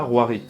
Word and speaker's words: La Rouërie: Des maths et bienvenue dans ce premier épisode consacré à Armand de la Roirie. Et oui, ça se prononce comme ça.